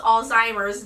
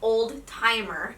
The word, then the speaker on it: Alzheimer's: The first lesson that I learned is that Alzheimer's is pronounced Alzheimer's, not old timer.